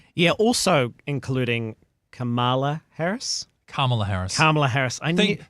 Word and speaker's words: Kamala: Kamala Harris. Think hard syllable at the start.